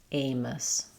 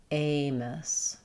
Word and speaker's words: Amos: Letter A is a tense A, the dip thong. So we have the A and letter O just says O. Amos, first syllable stress. Amos.